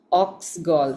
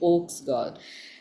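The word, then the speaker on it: oak gall: So the ox part has nothing to do with the animal ox. I think over time this the the uh pronunciation just changed to ox. It is actually oaks gold.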